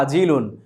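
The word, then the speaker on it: عاجل: নগদের আরবি শব্দ হচ্ছে আজিলুন। আইন দিয়ে আমরা উচ্চারণ করব, আইন শব্দটি দিয়ে, আইন বর্ণ দিয়ে।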